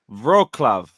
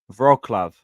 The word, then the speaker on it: Wrocław: Wrocław. That's how you pronounce. Okay, cool. Wrocław.